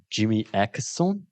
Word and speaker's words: Jimmy Åkesson: read online that this how is it, Jimmy Åkesson? Am I pronouncing it correct? Yeah, he's the leader of the Sweden soaring far right.